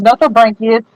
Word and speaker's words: Nothobranchius: And these are I'm going to mispronounce this too. No, not Notho. Aphysimian. Wait, hold on. I was right. It's Nothobranchius courthouse eye.